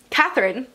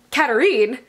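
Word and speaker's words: Katharine: time like for example I thought that their names were mirabela Katherine and arsenault but in the audiobook it's mirabela Caterine an arson Oy or arson Oh II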